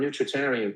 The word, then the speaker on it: nutritarian: Not not you pronounce that term nutritarian perfectly. Oh my word. Not vegetarian. Nutritarian.